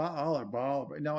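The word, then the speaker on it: Baal: by the way now I know how to pronounce the name anyway in the sacri you say I was it B all are ball no it's ball you know so it's bizarre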